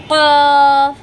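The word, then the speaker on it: ق: ফা, ফা, ফা উচ্চারণের সময় ঠোঁটটা একটু কামড়িয়ে উচ্চারণ করবেন ফা ফা কফ কফ। জিহ্বার গোড়াটা আপনারা উপরের তালুর সঙ্গে লাগিয়ে উচ্চারণ করবেন কফ কফ কফ, কাফ কাফ কাফ।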